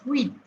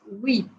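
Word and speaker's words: huit: eight is pronounced as weat now see I told you H is silent so pronunciation starts at U and here it is we the pronunciation is weat okay then nine I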